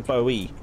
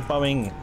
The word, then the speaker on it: Bowie: first yeah because it's got yeah it's the Bowie so yeah it would be Bowie knife but I seem to call it the Boeing knife for some reason a man out to